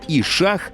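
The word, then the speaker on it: ì-šaḫ: саме сюди ось це слово яке читається як і шаг - це сало шумерською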